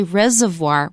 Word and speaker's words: reservoir: And you notice that reservoir, we often say reservoir. We don't pronounce the first R.